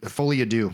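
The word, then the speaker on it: Folie à Deux: How do you say the second part? You know, fully ad fully ado.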